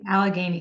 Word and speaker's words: Allegheny: Allegheny College.